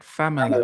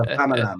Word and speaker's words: Famalam: to make sure I got the spelling right, Famala. Famalam. Yes. My mum Yes. mispronounces it. My mum's like, oh, I watched Famala. Famala. No, it's a Famalam.